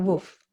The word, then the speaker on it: wolf: woof oh really wolf you say woof a wolf what do you say a wolf w-o-l-f yeah you don't have the l in your pronunciation wolf was it a